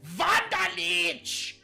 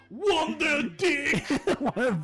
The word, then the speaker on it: Wunderlich: but you're pronouncing the wrong name. It is Wunderlich, not this Wunderdick.